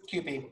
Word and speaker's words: Kewpie: Kewpie? Yes, Kewpie.